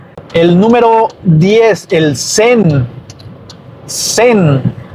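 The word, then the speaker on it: zehn: El número 10, el sen. Sen. Y el sen se escribe con Z, E, H, N. Ese sí suena como se escribe.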